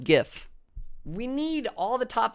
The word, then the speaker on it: GIF: your password is password it is pronounced Giff we need all the